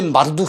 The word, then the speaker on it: 마르둑: 그 신들 가운데 마르둑 신이 있어요. 말뚝이라고 해도 됩니다. 줄여서 발음하면 말뚝 신이에요.